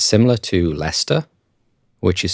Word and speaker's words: Leicester: spelling has changed it's similar to Leicester which is spelt Lester or Lester but pronounced Lester there are lots of